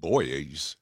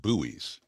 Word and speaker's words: buoys: happened yesterday I believe you're pronouncing it boes I I've always heard buoys buoy buoys boys potato potato I don't know same